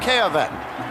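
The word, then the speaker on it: Cayavec: They said it hadn't been pronounced correctly too many times. Bob Kayavec is the right tackle for Alabama.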